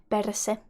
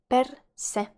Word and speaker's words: perse: Ass in Finnish is perse. Perse. Perse. Very simple word again. It's you just need to remember to pronounce that R sharply.